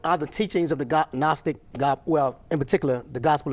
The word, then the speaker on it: Gnostic: It's not Gnostic, but it's Gnostic. The G is silent, G-N-O-S-T-I-C.